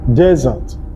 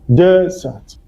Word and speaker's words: desert: The one with one S is pronounced as desert. The stress is on the first syllable, desert.